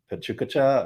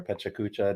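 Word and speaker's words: PechaKucha: if you've heard of Pachucacha or Pechacucha, depending on how you say it, but it's an organization that kind of shares ideas and stories of people.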